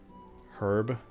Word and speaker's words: herb: Herb. Herb. The H is silent.